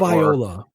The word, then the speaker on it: Tagovailoa: of the future there, whether it's Tua Tagovailoa or however his last name is pronounced. Tagovailoa. Yes, or whether it's what's his face, Justin Herbert.